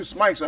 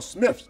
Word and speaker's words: Smythe: All you Smythes out there, you are Smiths. Don't bullshit me. You are Smiths, okay? I like that. Try to pronounce it as Smythe.